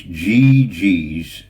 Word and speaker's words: G33: but anybody tell Dave it's GG's. GG's. It's GG. My initials GG. Just say it like GG. I know it looks like G33.